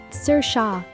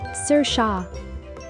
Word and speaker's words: Saoirse: Saoirse. Let's repeat. Saoirse. Say it with me. Saoirse.